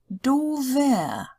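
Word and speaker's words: doofer: But if we're adding something to doof, like we have here, because the word doof is in front of the noun Hund, so we added an ER, and it changes the pronunciation. Dover. It sounds like a V. Dover. Ein dover Hund.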